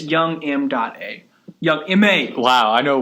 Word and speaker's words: Young M.A: What about Young Ma? How about put her... I'm pretty sure it's Young M.A. I think that's how it's pronounced, not Young Is Ma.